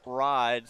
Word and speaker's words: Reed: I believe uh their name is pronounced ride like fried but without the f.